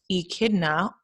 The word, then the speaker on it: echidna: called the spiny anteater the short beak echidna pronounced echidna oh how interesting i've been saying did you